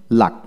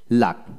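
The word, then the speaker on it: luck: তারপর আসেন লাক, এল ইউ সি কে, লাক, উচ্চারণ হবে এল এ কে, লাক, লাক, এখানে ইউ উচ্চারিত হবে না। এখন আসেন আবার সি কে একসাথে থাকলে কে উচ্চারিত হবে, সি উচ্চারিত হবে না।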